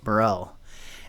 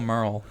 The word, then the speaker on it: Murrell: my guests are John Van geldin and Paul Morell and before we get started what is that